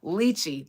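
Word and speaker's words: lychee: Liy, that's how you pronounce it.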